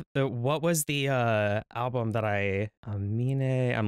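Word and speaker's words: Aminé: debut album on like how people mispronounce his artist name as like Amine or Anime or Anamina. Like it's dumb as fuck. It's Amine. I'm not gonna lie.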